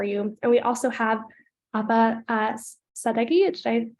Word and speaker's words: Ahva Sadeghi: And we also have Ahva Sadeghi. Did I pronounce that correctly?